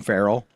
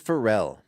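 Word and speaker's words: Pharrell: Williams is a 51 I will not call him Ferell I think it's I think it's Fel it's Fel Fel yeah Sterling K Brown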